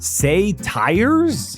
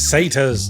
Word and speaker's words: satyrs: Say tires? It's satyrs.